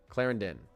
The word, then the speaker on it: Clarendon: Clarendon.